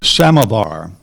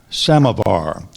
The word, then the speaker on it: samovar: that one is k a m a samovar samovar when he was visiting his Russian friends Ron